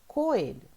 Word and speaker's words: coelho: Então, coelho. A gente vai separar aqui neste primeiro espaço. Olha só. Coelho. O E é a sílaba tônica.